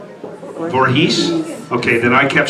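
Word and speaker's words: Voorhees: Ronnie U was always yelling at me for mispronouncing Jason Borhe. Is it Vorhees or Vorhees? Vorhees. Okay. Then I kept saying Borhees. And then he would go cut and I go what is it? It's Vorhees.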